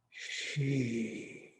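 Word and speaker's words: xi: i and remember that x in pinyin is pronounced like shh sh so it's she she pronounced like s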